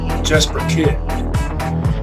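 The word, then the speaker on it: Jesper Kyd: I'm looking for Jesper. As in Jesper Kid.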